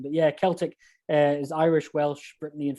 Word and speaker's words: Celtic: a celtic thing i'm well done for saying it right because most people say celtic and celtic is the glasgow football team but yeah celtic is irish welsh britney